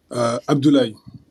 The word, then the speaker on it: Abdoulaye: Abdoulaye. Voilà, merci, comme ça je prononcerai bien tout du long et forever.